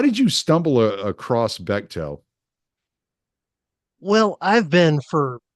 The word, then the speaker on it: Bechtel: And I listened to it and you brought up Bechtel or Bechtel. How do you say it? I think it's Bechtel. Yeah. Bechtel.